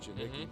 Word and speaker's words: Janicki: It has the preferred walk-on status, Jack Janicki out of White Bear Lake, Minnesota. Just glad I got the name pronounced right, Janicki, because my name gets screwed up all the time, and yours does too.